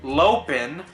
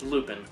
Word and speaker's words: Lupin: Lopin, what? Lupin. Lupin. It's not supposed to be pronounced that way, is it?